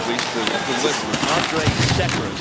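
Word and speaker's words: Andrej Sekera: Now, I want the pronunciation, please, to listen. Andre Sekera is how he wants it pronounced now. It used to be Sekera, but he's the guy, Peter, that they went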